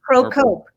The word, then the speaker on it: Procope: Are you pronounced or? It's actually. Procope? Procope.